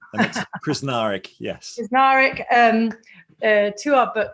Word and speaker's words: Krznaric: to say it right krasnarick i don't know why i'm danish i normally can do any any words but that was pretty close you just say every letter without fear chris narick yes um to our